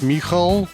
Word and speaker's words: Michał: pronounce your name now in Polish it's Michel okay in Russian Mikhail